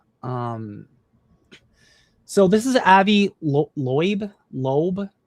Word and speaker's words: Loeb: A important announcement from Professor Avi Lo Loeb Oh, Loeb, I think it's how you pronounce it. Loeb.